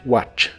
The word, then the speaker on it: watch: similar que se mueve no se pronuncia la t de esta palabra solo watch watch y usaremos la frase